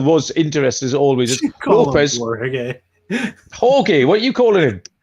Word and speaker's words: Jorge: And Jorge Lopez, the closer carousel was interesting as always. Lopez. Jorge, what are you calling him? Jorge. It's a silent G.